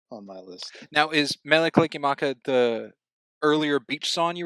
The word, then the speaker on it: Mele Kalikimaka: Next we have Underneath the Tree against Mele Kalakima. I've never heard it pronounced that way. Okay. Say it one more time. Molly Kalikimaka. Yeah. Mele Kalikimaka against Underneath the Tree.